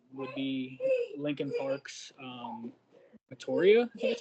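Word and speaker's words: Meteora: older album um would be Lincoln Parks um voria that's how you say it um my favorite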